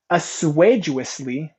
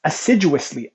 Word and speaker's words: assiduously: time to be active assuageously whoa as assiduously assiduously assiduously yeah I mispronounced that acid assiduously reading company